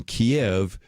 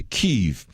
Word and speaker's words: Kyiv: Well, Ukraine, sort of wanting to move away from Russia, decided that they would use, as would make sense, the way Ukrainians would actually pronounce those Cyrillic words, and that's why we go from Kiev to Kyiv.